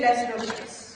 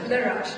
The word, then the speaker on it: Les Roches: And Anurag told me, don't say Les Roches. Okay, even though it is spelled like that, it is a La Roche.